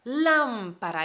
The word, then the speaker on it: lámpara: esta regla no entonces lámpara lampa para tres sílabas lámpara en la fuerte entonces la antepenúltima en la fuerte la palabra es esdrújula entonces obligatoriamente lleva tilde